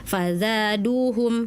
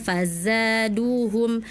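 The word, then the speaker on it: فزادوهم: Contohnya di surat Aljin tadi kakak bacanya fazada fazaduhum harusnya fazzaaduhum. Fazza ya. Ingat-ingat huruf zai ada desis-nya ya.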